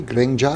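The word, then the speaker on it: เกรงใจ: So in Thai we have a word, grengjai. Yeah. Did I pronounce that correctly? Grengjai? Grengjai, yeah, just afraid to give feedback.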